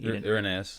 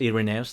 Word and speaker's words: Irenaeus: Irenaeus. Irenaeus, thank you.